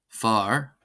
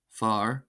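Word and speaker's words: fear: There are other gelic vowel combinations or vowel sequences which are actually pronounced as short vowels. These include ea or e ai and ai when ai is placed at the beginning of a word. So for example we have ban ban ban ban ban ban meaning woman. We have far far meaning man.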